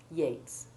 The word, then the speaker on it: Yeats: Exceptions to note here are that the word great has a long A1 sound, as does the name of the poet, Yeats, while the words sweat